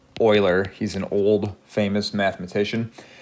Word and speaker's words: Euler: base E or the Euler number this is pronounced Euler he's an old famous mathematician and to be